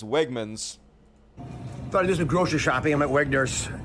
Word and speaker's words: Wegmans: it even funnier that he mispronounces one of the uh very popular local grocery store I think he calls it Wagner's and it's Wegmans started doing grocery shopping